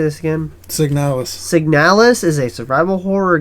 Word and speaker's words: Signalis: Signalis.